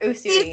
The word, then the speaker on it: Usui: I do Usui. I think that's how you say it. Usui? Yes. Yes. Usui.